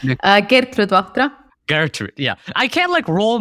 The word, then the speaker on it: Gertrud Vahtra: Gertrud Vahtra. Nope, that wasn't even It's close enough. How do you pronounce it? Gertrud Vahtra.